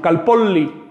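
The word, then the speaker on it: calpolli: Si quieres pronunciarla en es calpoli. No es calpoli, tampoco es calpoli, ¿no? Sino calpoli. Hay que estirar esa L porque el oyente tiene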